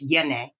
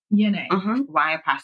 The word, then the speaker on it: Y'Na: It's Yone. Yone. Y''N''A.